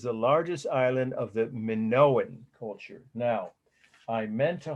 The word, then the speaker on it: Minoan: Minoan. Minoan, it's pronounced.